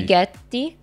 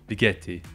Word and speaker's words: Vighetti: You don't pronounce the G. Vighetti. Vighetti.